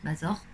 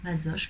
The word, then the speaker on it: Masoch: Mazor. Ça dépend, hein, tout le monde le prononce différemment. Je préfère le Masoch plutôt que Mazor, même si je sais